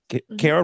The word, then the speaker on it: Kara: And you listen, Kara rhymes with Sarah.